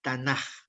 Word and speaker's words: Tanaj: Por lo tanto, la pronunciación es Tanaj.